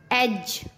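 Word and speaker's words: edge: Rule, जब जी से पहले डी आता है तब डी साइलेंट होता है। जैसे ब्रिज, एज, हेज।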